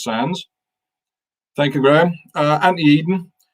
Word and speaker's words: Sandys: Sandys is pronounced Sands.